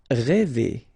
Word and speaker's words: rêver: Rêver, okay, accent circonflexe, so this accent on the top of okay, will produce the sound really open one, okay, so rêver.